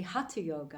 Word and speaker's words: hatha: But actually hatha yoga, which is how it's pronounced, is made up of ha, which is the sun, and ta, which is the moon.